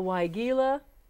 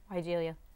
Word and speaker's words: weigela: So that will help you with the weigela, the... weigela. So here we have two pronunciations, half and half here on the show.